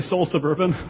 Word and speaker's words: Seoul Sub→urban: called soul sub arrow do you just say soul suburban do you pronounce the arrow in any way no i just saw the urban yeah but it's funny